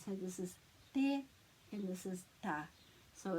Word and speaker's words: te: So the T in these two words has a flat sound. So this is te and this is ta.